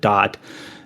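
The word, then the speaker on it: Da'at: And then later in the game, you kind of revisit this destroyed world, which is known as Dot. That's DA''AT. They just kind of pronounce it Dot.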